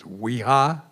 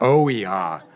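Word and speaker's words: OEHHA: And if I can say the acronym correctly, it's WHEHA. Oiha. Oiha. Left out a syllable there.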